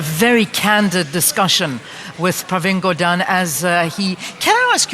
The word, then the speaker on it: Gordhan: What did your father say the surname was? Gordhan. Thank you. Okay, I feel better now. That's the Gujarati pronunciation. Gordhan. Yeah, but it's all anglicized now, you see.